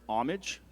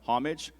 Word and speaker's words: homage: The word is homage. It can also be pronounced homage or homage.